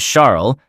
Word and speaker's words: Charles: Charles, pronounced the French way as Charles, looked like typical Eurotrash to me.